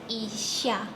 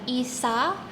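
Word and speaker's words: 医者: Bahasa Jepangnya adalah isya. Isya. Jadi bukan isa tapi ada h-nya. Isya.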